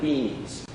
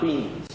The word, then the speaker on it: being: And I was told this week, pronounce being well, because when I say it, it can sound like beings. So, the ground of all being, not beings.